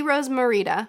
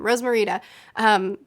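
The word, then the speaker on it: Rosmerta: down to Hogsmeade see Rose Morita Rose yeah that's how you say her name Rose Morita to show that they're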